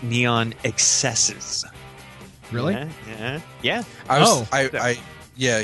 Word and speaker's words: Neon XSZ: in his press info it's not neon xzs it's pronounced neon excesses really yeah oh I